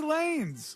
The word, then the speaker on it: Lanez: sent what a surprise you pronounce it lines yes it's Tory Lanez it's Tory Lanez oh